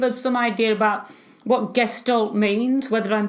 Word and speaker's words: Gestalt: psychologist can give us some idea about what guests don't means whether I'm pronouncing it correctly and how it applies to the out world so take it away Connie all right Jimmy so Gestalt is a German word for meaning for it